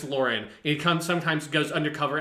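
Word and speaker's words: Loran: ever do that and it's spelled l-o-r-a-n but supposed to be pronounced lauren it comes sometimes goes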